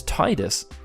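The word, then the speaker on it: Tidus: start with that sound most of the words like tide tidal and tidy start with the tide sound therefore the weight would naturally be interpreted as an English speaker to me was Titus and when he throwing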